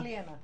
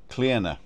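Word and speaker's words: Clíodhna: Because it's short for Cleodna? Cleana. Cleana. but you don't pronounce the D. No, it's a silent D.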